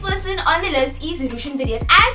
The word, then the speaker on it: Rushine de Reuck: So the next person on the list is Rushine de Reuck.